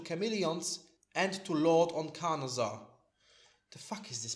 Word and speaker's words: Carnosaur: do damage to Chameleons and to Lord on Carnosaur. The fuck is this pronounced actually? Carnosaur. Carnosaur.